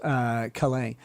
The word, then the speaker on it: Calais: The felon attorney says, Nick, the S is silent in French like that, so it's pronounced Calais.